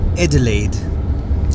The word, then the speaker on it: Adelaide: just ended up in Adelaide is that what you noticed like Adelaide people are quite posche yeah yeah um yeah they they pronounce it as edela I'm from edel fancy